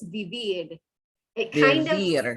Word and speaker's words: vivir: make sure your I is an E sound.